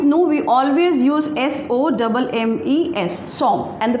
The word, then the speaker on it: sommes: Along with nous, we always use S-O-M-M-E-S, som, and the pronunciation is som, that is nous sommes.